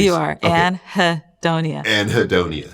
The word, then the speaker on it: anhedonia: correctly you are anonia anhedonia an is a lack of hi is pleasure and then the onia is like the condition the symptom yeah okay so what